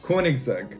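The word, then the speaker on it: Koenigsegg: we've got kona seg which should be pronounced ko neg seg koenigseg koenig's egg is swedish and therefore needs to be pronounced with that kind of accent i don't know what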